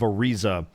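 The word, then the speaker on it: Ariza: and doorer you know is the city of arza that is spelled a r i z a ah you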